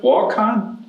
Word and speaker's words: Waukon: Paul grew up, am I pronouncing this right? Waukon?